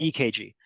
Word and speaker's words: EKG: EKG. Now it's spelled with a C, but we pronounce it with a K.